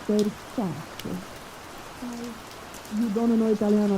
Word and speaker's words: Versace: And you want to know it's not Versace, it's Versace.